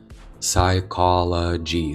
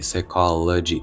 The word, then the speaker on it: psychology: І CH буде звучати як к, а не як чи. Стандартна вимова CH, тобто тут КISM, chemistry, technology architecture, psychology, psychology.